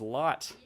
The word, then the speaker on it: Lot: much and so there it is there is lot um I was actually Wayne is somebody who's